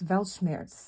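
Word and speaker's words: Weltschmerz: leads to Enlightenment um it's valschmerz if I'm pronouncing that right it's a German word um velgemeier it's a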